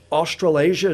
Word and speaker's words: Australasia: you qualified for the I guess it's australasia is that how it's pronounced yes okay you got it and